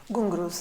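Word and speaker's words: ghungroo: except for kakali use is it pronounced the gungru gungru yeah those are the ankle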